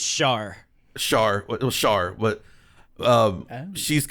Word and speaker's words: Char: we're i'm saving char for a second it's pronounced shar char char but um she's kind of like